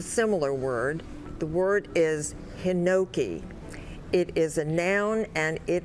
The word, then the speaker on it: hinoki: Hinoki. Are there any alternate pronunciations? There are not. Hinoki.